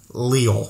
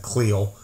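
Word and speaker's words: Leal: of georgia then they took how do you pronounce his name marvin leo leo that's right i almost said cleo leo um defensive end out of a m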